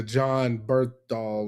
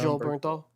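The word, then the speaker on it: Jon Bernthal: Uh we were watching that Netflix miniseries with uh John Berthal or is that how you say his name? John. Joe Bernthal.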